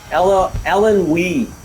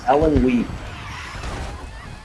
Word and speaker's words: Illinois: Ellen Wee is the proper way to say it. Ellen Wee.